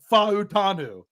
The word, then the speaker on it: Fautanu: Okay, it's very simple. Every vowel gets a syllable. So you have to pronounce every vowel with its own syllable.